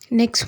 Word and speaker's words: knock: Next word வந்து நாக், KNOCK, நாக் அப்படி தான் சொல்லணும். கே வந்து இங்கேயும் சைலண்டில் போயிடும்.